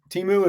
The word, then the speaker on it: Temu: don't know if if am I pronouncing timu correctly yeah you I I timu is is how you say it if I recall This was um I